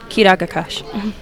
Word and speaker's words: Kidagakash: Prin is kah MHM or karagas nagen k kidagakash you said it right oh my go that's